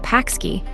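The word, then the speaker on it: pączki: especially though not exclusively during carnival are called paxki pronounced stress p open nts retroflex km ji.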